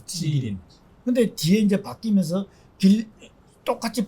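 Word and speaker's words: 吉林: 근데 이름은 지금도 계림을 한 중국식으로 발음하면 찌린입니다. 찌린.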